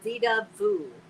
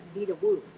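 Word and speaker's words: Vedauwoo: It's pronounced Vita Vu. I was told that by a local because I kept calling it Vita Wu, and I was corrected.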